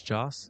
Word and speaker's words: Jas: Is Jas? Is that how you pronounce it?